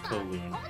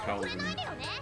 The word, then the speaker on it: Kowloon: Okay, so it is supposed to be pronounced Kowloon, not Kowloon. Why is that W there? Alright, so I will probably get to do the side quests.